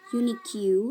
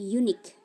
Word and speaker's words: unique: Jadi, dibacanya bukan unic tapi unique antic. Jadi, UE ya itu silent.